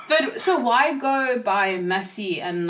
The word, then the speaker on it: Masi: so they'll call me Siam and I'm like, I'm not that, they'll call me Masi and I'm like, nope, it's Masi, so you have